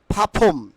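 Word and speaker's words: perform: পারফর্ম দ্বিতীয়টি কি বলি আমরা পারফর্ম বলে থাকি নট পারফর্ম it will be ফাফম it will be ফাফম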